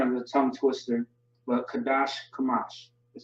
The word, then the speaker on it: Qadash Kamash: But Qadash Kamash is how you pronounce that or say it.